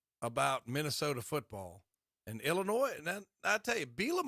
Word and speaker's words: Illinois: here we go okay it's Illinois not Illinois Tom that completely depends where you're from Lincoln County it's Illinois Illinois there's a s on it it's Illinois that's how you say it but it's okay